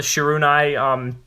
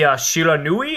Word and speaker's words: Shiranui: We have our first rare, the Shirunai, I'm sorry, I think I pronounced that wrong. The Shiranui, I think that's how it's pronounced, if my Japanese is still correct.